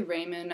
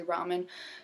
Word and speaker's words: ramen: ramen noodles ramen noodles i say raymond i don't know why but people tell me i'm saying it wrong so i say ramen so whatever you say